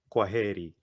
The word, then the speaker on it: kwaheri: It's kwaheri. It's kwaheri. And I want to hear the intonation on H-E. He, kwaheri.